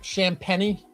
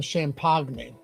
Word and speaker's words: Champagnie: All right, Champagnie. I'll never get the pronunciation of that name right. I so badly want to call him Champagny.